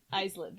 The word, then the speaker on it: islet: Okay, so this is the islet with an IS. Islet. Islet. That's Islet.